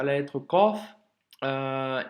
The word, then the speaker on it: ق: la lettre KOF euh il a dit pensez au bruit que fait le corbeau le corbeau il fait pas qu qu qu il fait tu vois le son doit venir de loin de de du fond de la gorge et doit remplir toute la bouche ok donc pour l'astuce